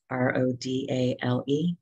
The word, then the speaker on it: Rodale: in the united states in the 1950s the roedale press and that's spelled r-o-d-a-l-e rodale press started to raise consciousness about organics